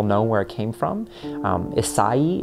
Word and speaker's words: Isai: Isai is how you would pronounce that, but it's just Isai is just kind of what he's called, and it sounds like it's this thing that it's not.